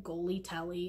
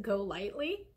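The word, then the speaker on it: GoLYTELY: something called Go Lightly, which I kept calling Goly Telly until I heard somebody pronounce it Go Lightly.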